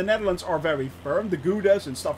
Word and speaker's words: Gouda: so yeah it's uh gouda yeah it is uh or we call it in the netherlands we call it caulda actually so that's actually how you pronounce that so you learned